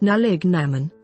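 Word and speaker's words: Nollaig na mBan: Ireland January 6 is known as nolignan born pronounced nalig Naman or women's Christmas day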